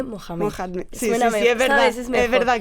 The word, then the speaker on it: Mohamed: Mira, has dicho muy bien esas palabras y yo te quiero corregir porque Mahoma no se dice así, se dice Mohamed.